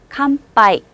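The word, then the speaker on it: 乾杯: 이 글자 한 번에 읽으셔야 돼요. 캄, 파, 이. 그런데 이 파도요. 앞쪽에 붙으면 파라고 주로 읽지만 글자상 좀 뒤쪽에 붙어 있잖아요. 그래서 빠, 쌍비읍음을 내셔도 좋아요.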